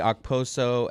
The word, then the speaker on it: Okposo: Because I always hear people just go Oposo. Like the K is almost silent.